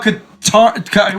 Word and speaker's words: Katarn: Kyle Katarn. What did you say him? Darth Mao. Kyle Katarn. What'd you name him? I make stuff Catan.